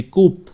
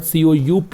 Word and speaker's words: coup: Decisively left behind the uncertainties of repeated military कूप। यहाँ पे देखिए, ये कू भी कह सकते हैं, इसको कूप भी पढ़ सकते हैं, ये डिपेंड करता है कि हाउ इट has been used. The particular word COUP इज प्रोनाउंसिएटेड कू एंड कूप, both pronunciations are